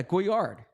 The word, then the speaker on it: Goyard: I need Emily here for that uh yeah guyard okay am I am I pronouncing it correctly yeah it's a a goard